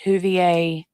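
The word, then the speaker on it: Whovier: It just Huvier rhymes with Jolie May.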